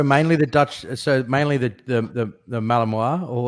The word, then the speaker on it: Malinois: Yep, Malinois. Malinois. It's sort of spelled like Malinois, but we say Belgian Malinois.